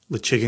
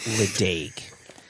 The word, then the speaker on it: Ledaig: Lechig, or lechig, some people say lechig. What it isn't, what it clearly is not, it's not Ledaig.